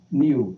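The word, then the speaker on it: niw: How's that pronounced? Niu.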